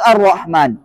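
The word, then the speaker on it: الرحمن: at jadi atyibat ah lam kata dengan ro bacanya alrahman Arrahman Arrahman nah Wal k duha bacanya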